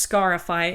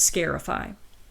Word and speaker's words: scarify: from kentucky scarify and it could be pronounced scarify as in to make a scar or sometimes scarify to mark with a scar taken from a superstition